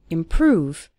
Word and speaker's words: improve: seeing your english improve stress on the second syllable improve over time you'll start